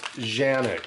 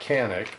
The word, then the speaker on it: Canik: you can see and that is pronounced Janek that's not Kanak but I don't really